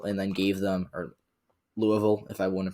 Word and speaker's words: Louisville: i just drew them a safe seat in louisville and then gave them or louisville if i want to pronounce it correctly and then i could give